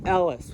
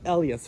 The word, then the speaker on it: Ellis: And my name is like normal Ellis, but it's pronounced Ellas for some reason.